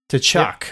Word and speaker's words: Tkachuk: Is that how it's pronounced? Tkachuk.